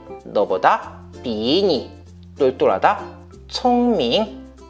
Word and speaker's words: 聪明: 자, 그러면 내가 생각하기에 我觉得 돌고래는 하이툰 너보다 비니 똘똘하다 총밍. 자, 이렇게 하면 되는 거예요. 자, 제가 한번 발음하겠습니다.